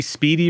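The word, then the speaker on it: spiedie: speedy so they say Speedy but it's based on spedini I think so okay but they call it speedy like like like I'm quick Speedy but it's spelled I.E okay they pronounce it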